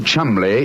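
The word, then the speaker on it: Cholmondeley: had no reason to know that the name chamley is in no way pronounced the way it is spell I never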